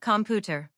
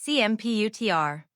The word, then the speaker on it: computer: It's not computer. It's computer. Computer.